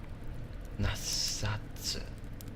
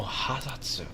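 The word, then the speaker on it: 八冊: 8 books would be nasatsu. Nasatsu. Nasatsu. Oh, hasatsu. My bad.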